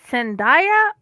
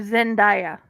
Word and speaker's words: Zendaya: But if you listen, it's pronounced both ways.